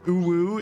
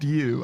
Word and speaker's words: ewe: was you yeah um I guess ewe could be read as ooo is it would be like I or whatever E I don't know but it's pronounced youu I'm familiar with that